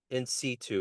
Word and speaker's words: in situ: So the new album in situ, is that how you say it correctly?